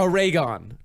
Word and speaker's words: Oregon: It's like Oregon. a ray gun? Yes. Yeah, Oregon.